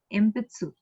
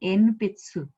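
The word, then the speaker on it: 鉛筆: Similarly, we know this word, empitsu. Empitsu, ne? It will not be enpitsu, it will be empitsu.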